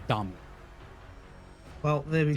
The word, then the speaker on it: Dami: And apparently, like, regarding your question, um, Dami is actually a Saudi player, and it is pronounced Dami.